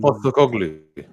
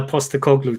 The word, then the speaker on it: Postecoglou: I can never pronounce his name. The guy that's coaching Tottenham at the moment. Postecoglou. Yeah, Postecoglou.